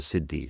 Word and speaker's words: siddhi: uh 20 years is what we call the Siddhis.